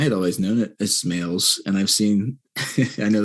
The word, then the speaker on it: Smales: Yeah, I mean, I've heard Smalley's is the most common. Like people like to put a CH, like Schmales.